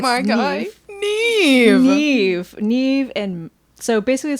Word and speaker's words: Nev: I used to call him Nev because that's what I thought it phonetically said.